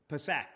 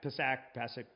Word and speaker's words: Pesach: Pesach. Yeah, Pesach, right?